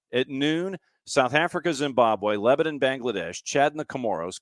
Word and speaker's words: Lebanon: Yes, not Lebanon. Lebanon is damn near one syllable.